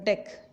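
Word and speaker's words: deque: Here DQ stands for double-ended queue. DQ stands for double-ended, pronounced like deck. We have to call it a deck, DQ, not DQ, deck.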